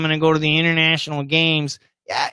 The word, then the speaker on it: international: So for ESL students, I always tell them, for example, the word winter, we should say winter. The word international, we should say international. Okay, keep the T. However, when you listen to Americans, even like Obama and Trump, the leaders of America, they'll commonly say winter when the T's gone, and they'll say international.